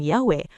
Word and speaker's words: Yahweh: menyimpulkan dengan kalimat tegas, "This passage is decisive for the pronunciation Yahweh," merujuk pada analisis Keluaran 3 ayat 14.